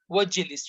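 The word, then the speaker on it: اجلس: But if together is udkhul wajlis, you don't need to pronounce Hamzatul Wasl because there's a word before that.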